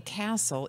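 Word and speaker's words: Cassel: they love and so my name castle is spelled CAS SEL and of course the castle the building you know how that spells so I said well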